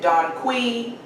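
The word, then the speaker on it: dong quai: bodies the next herb they call it don quai some pronounce it don qui but it helps promote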